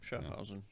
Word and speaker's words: Schaffhausen: That's how Matt was pronouncing it on his radio show. No, that's right. Schaffhausen.